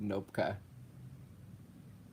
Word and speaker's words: Knopka: Yeah, that's how you pronounce it, Nopka.